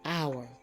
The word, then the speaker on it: hour: homage honest honor and hour hour they begin with h but the H is silent now we have some